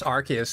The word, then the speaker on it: Arceus: Do me a favor, pronounce Arceus. Arceus. But it's Arceus, there's no other way to...